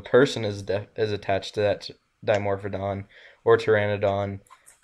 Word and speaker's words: Dimorphodon: Is it Dimorphodon? Did I say that right? Correct? Yeah, you said it right.